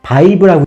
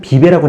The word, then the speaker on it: VIVE: 이거 어떻게 읽느냐에 따라 다른데 제가 아이브를 워낙 좋아하다 보니까 저는 V 아이브라고 읽어요. 그런데 바이브라고 읽는 분들도 있고 이마트에는 비베라고 나왔네요. 하여튼 V 아이브, 토론테스, 말벡 이번에 괜찮은 가격으로 나왔습니다.